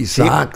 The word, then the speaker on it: Isaacs: Se pronuncia así, Isaac.